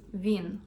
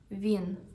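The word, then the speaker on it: він: First one is he, which in Ukrainian is vin. Let's say it vin.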